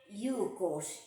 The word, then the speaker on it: Ilocos: The Spanish had variants to the name Ilocos, pronounced Yucos in Castilian Spanish, Ilocos, and Yucos.